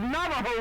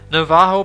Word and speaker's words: Navajo: Please be considerate of Navajo land! Warum schreiben wir das mit J, wenn es einfach wie H ausgesprochen wird?